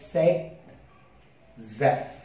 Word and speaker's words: Zaitsev: Zaitsev. But the actual pronunciation of this is said Zef. This is the actual pronunciation that we have.